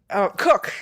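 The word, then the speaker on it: Koch: A and the first and Christina Cook is how she pronounce it.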